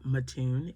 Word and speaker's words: Mattoon: Some pronounce it Mattoon if you're in Illinois.